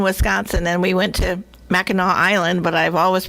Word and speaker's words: Mackinac: it said that way so now we're yeah Mackinac yeah Mackinac that must be French I guess